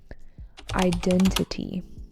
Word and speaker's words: identity: Identity with an emphasis on the second syllable.